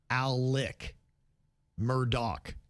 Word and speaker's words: Alex Murdaugh: And the first name is tricky because it's spelled A L E X, but he pronounces it Alec. Murdock.